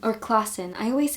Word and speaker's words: Klassen: And anyway, I think what John Klassen, or Klassen, I always say Klassen, but you pronounce it Klassen.